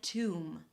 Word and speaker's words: tomb: the B is often dropped or almost always dropped, like in the word comb, bomb and womb. Alright, you don't say 'comB', 'bomB' and 'womB', its comb, bomb, and womb, and tomb.